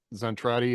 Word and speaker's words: Zentradi: Like the Robotech technology was the Zentradi. I think I'm mispronouncing that, but no, that's right.